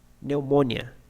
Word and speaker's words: pneumonia: Now let's see some examples where these words are pronunciated actually in silent, okay, in a silent way, like p. In these examples, they are silent, okay? Pneumonia, psychology, T in a T way, Christmas, castle, k, knife, no, knock, okay?